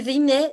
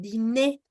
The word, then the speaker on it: dîner: En este caso, mon dîner, ahí sí la pronuncias, porque la palabra termina en R. Lo que no pronuncias es la R, cuando es sustantivo. Pero cuando es verbo, lo que no pronuncias es la E.